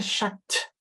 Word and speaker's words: chat: case we say une chatte. Okay, so notez bien la différence de la prononciation entre chat, we don't hear the t at all, and chat, we do hear the t, right?